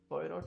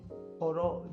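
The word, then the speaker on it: Poirot: पोयरोट जो इनके हैं, उस पोयरोट या पोरो जैसे भी प्रोनाउंस करते हैं, डेथ इन द नाइल इनकी किताब है, और एबीसी ऑफ मर्डर, ये सब इनकी किताबें हैं।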